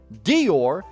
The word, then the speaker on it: Dior: in your cranium buddy what made you think Dior is pronounced similarly to Noir which isn't even spelled the same Noir has the O